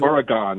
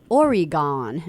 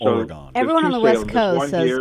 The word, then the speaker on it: Oregon: time oh my god if you're on the East Coast you say or you gone and then you know